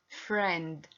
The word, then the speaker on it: friend: rule of e sound like the word friend sees friend here we have e i and i e letters but here we pronounce with the sound e but and with the word friend we can't pronounce e yes this is friend